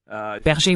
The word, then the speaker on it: Berger: comment prononcez-vous votre nom berger oui c'est aussi un nom allemand d'accord Harry berger sur